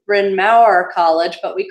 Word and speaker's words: Bryn Mawr: from John that my institution should properly be pronounced Bryn Mawr College but we call it from our College in the United States in Philadelphia and